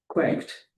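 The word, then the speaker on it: CWACT: Their unfortunate acronym is pronounced quacked.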